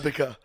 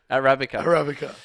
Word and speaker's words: Arabica: It's Arabica. Arabica.